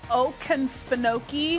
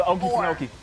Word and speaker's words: Okefenokee: It's the Okefenokee. Oh, the Okefenokee. That's a swamp in Okefenokee. southern Georgia. It's known as a southern boy. I know the Okefenokee swamp.